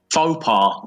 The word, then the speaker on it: faux pas: Faux pas. That too. It's faux. Faux. Faux pas. That sounds Londonish now. That's funny, isn't it? No, that's just the correct pronunciation.